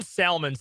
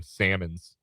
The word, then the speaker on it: Salmons: I call him Salmons. He pronounced the L.